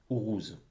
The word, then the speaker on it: Uruz: Uruz, plutôt. Avec la bonne prononciation.